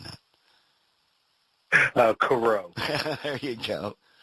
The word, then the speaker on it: Coreau: Tom it's French and I have a problem pronouncing it oh Coro there you go it's it's spelled French it